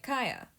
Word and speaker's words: Kia: Today, it's time for Miss Kaya HART, because, they decided to throw away any potential at her name being a pun of key to my heart by pronouncing it like Kaya.